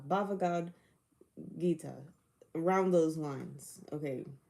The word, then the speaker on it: Bhagavad Gita: Bhagavad Gita, often referred to Okay, as simply Bhagavad Gita. Bhagavad Gita. Around those lines. Okay, Bhagavad Gita.